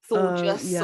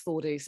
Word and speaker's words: Thordis: entire life telling people, no, I'm not called Claudia. No, it's not Thorgus, or I don't even know what other, it's not, I've not mispronounced Louise or something. It's Thordis, but there we go.